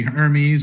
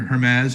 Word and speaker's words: Hermes: the answer is actually hermes or hermes however you want to pronounce it very good so yeah